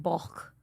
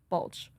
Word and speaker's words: Balch: I mean honestly okay it's a Welsh last name and it's pronounced like bulk oh God in Welsh so but here it's like Bulch okay yeah so no one's wrong it doesn't matter as long as you don't say BL I'm like wow dyslexic